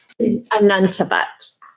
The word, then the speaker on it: Anantavat: Miss Anand Tavat, how do you say your name and break it into syllables? Anantavat.